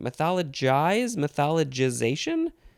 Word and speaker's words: mythologization: Gization or jizzation? I think it's gization. Mythologization? That's what it says. It's right there in the pronunciation.